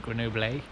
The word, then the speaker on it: Grenoble: France I'm in uh Grenoble or as the French seem to pronounce it greno uh at the moment